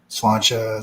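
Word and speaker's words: Sláinte: Slancha is actually a better pronunciation.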